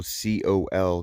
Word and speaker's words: Col: Okay, here's a one of those tent pads, and this is at the Bigelow Coal campsite. I think that's how you say it. It's Bigelow COL campsite, and this is one of the tent pads.